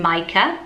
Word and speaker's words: Micah: got wrong last week which is the name Micah at number 262 nice ed mica and a lot of you said is it me is it my Kurt most mums with this name that say Micah so obviously that is correct that's how he